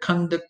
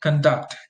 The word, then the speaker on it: conduct: So you have the noun, which usually receives the stress on the first syllable, and the verb, which usually receives the stress on the second syllable.